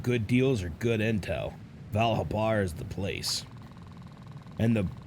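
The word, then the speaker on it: Val Habar: what brings me to val harbor valhabar i always i always pronounce it as if there's like an r before the b it's valhabar not val harbor but i've always said val harbor for some reason it's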